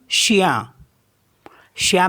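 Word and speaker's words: chien: आई ई एन तो इसको पढ़ते हैं हम शिया शिया मींस होता है डॉग और नेक्स्ट वर्ड है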